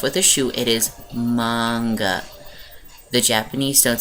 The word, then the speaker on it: manga: manga anime and if you think that it's pronounced manga please go hit yourself with a shoe it is manga the japanese don't say a anyway so i